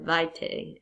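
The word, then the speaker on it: arbor vitae: They call this the arbor vita or vite I guess technically in your Latin pronunciation.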